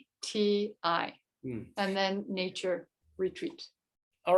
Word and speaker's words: Kayuvati: And it can be spelled with a K or a C. So it's Kayuvati.